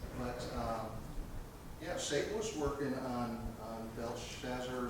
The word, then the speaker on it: Belshazzar: But Satan was working on Belshazzar, is how you pronounce his name, to just blind his mind.